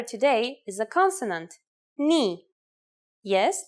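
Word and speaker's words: νι: The first letter today is a consonant, ni. Yes, pronounced just like the knee on your leg.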